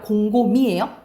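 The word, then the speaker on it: 곰곰이: 여러분 이제 그걸로 외우세요. 발음으로. 왜냐면 연음되잖아. 공곰 희가 아니라 공곰이에요. 공곰이, 더욱이, 생긋이, 오뚜기, 일찍이.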